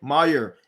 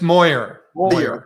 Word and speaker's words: Moyer: 000 people per year today's guest is meyer am i pronouncing lastly right make sure i'm making uh it's moyer moyer so is an innovator right